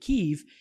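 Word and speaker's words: Kyiv: then to Ukraine for Kiev now the Ukrainian pronunciation is preferred ke and Yalta which is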